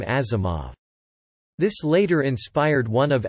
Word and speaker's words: Asimov: spelled in Western letters, Asimov's father spelled it with an S, believing this letter to be pronounced like Z as in German, and so it became Asimov.